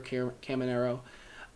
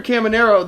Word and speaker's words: Caminero: But now, Junior Caminero, I think it's pronounced Junior Caminero, is absolutely the best third baseman.